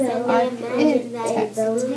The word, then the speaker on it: architect: Okay, make it a hard C. Abby, if we make that a hard C, what do we have? In this picture caption it says Art and display. Very close. Architect.